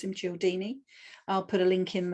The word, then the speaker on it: Cialdini: In I think it was the mid-80s, there was a man called Robert Cialdini, and that's how I pronounce him, Cialdini.